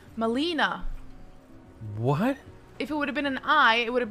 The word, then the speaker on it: Malena: ] Malena yeah but you were saying Milena like it's it's in English the correct pronunciation of e is e Molina what if it would